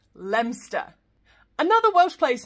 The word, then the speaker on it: Leominster: Another one where we're just ignoring half of the letters and cutting the whole thing down to just two syllables, and that's Leinster.